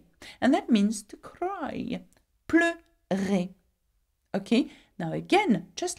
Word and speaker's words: pleure: So the difference is that in the infinitive, you pronounce the E, E, but when you conjugate it, you pronounce it er. Why? Because it has an open sound at the end, okay?